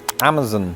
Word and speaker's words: Amazon: And number two, I used to pronounce it Amazon because that's the chief pronunciation in Britain.